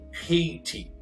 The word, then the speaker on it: Haiti: Pronúncia desse país é Haiti.